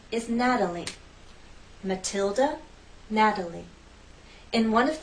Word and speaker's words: Natalie: In this name, we have three syllables, and it's the first syllable that's stressed, Natalie, Natalie. The T is part of an unstressed syllable, so we use the flap T.